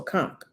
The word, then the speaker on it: conch: ate very good oh conch oh don't pronounce the h okay so conk got it yeah that was my